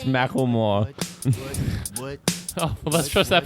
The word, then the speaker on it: Macklemore: It's Macklemore. Oh, well, let's trust that pronunciation because they thought it was cute and decided to put it in a song.